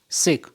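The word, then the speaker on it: sake: Shake, a popular Japanese drink. S.A. Sa is pronounced like fa in father, and shake rhymes with way.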